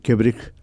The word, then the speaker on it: Kebrich: Está muy bien pronunciado, ¿En serio? Luis, así que sí, es Kebrich, está bien.